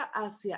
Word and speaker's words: hacia: ejemplo su vuelo iba hacia asia fíjense que aquí hacia el continente asiático se pronuncia igual pero se escribe diferente ok asia es la